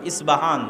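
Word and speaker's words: Isfahan: আজও ইরানের মধ্যে ইস্পাহান নামে সেই নগরী আছে। আমরা প উচ্চারণ করি ইস্পাহান, আরবিতে এটা উচ্চারণ হয় না। আরবিতে হয় আল আসবাহানি, বা উচ্চারণ হয় ইসবাহান বা আসবাহানি।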